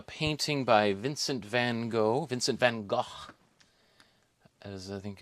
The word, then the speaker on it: Vincent van Gogh: this is a painting by Vincent van Gogh Vincent van Gogh as I think it's properly pronounced and I think 1888 this paintings from